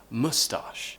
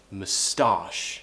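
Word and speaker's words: moustache: pronounce this would be with a schwa sound and we move the stress so we say mustache so we have the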